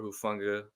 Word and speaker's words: Hufanga: Hufanga.